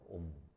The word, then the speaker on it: 옴: 옴이라고 읽어요. 옴.